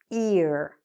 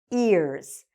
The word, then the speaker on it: ear: There's an H, and we do need to hear that H, and we do actually pronounce that H. And here we don't, because there is no H. But when there is an H, very often, not always, the H needs to be pronounced.